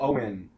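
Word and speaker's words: Eoghan: Oh, that's like people who spell Owen, E-O-G-H-A-N.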